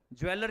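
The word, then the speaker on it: jeweller: ज्वलर ज्वेलर नहीं बोलेंगे ज्वलर अगर आप डिक्शनरी में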